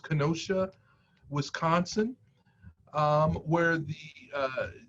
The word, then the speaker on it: Kenosha: of what's going on and i think it's pronounced kenosha wisconsin um where the uh the gentleman was